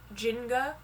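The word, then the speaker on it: Njinga: believe it's pronounced jin jinga because i believe the n is silent at the beginning but this warrior in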